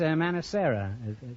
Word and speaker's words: Manicera: Mrs. Manicera. Yes. That's an odd name. Is that the correct pronunciation? Yes, it is.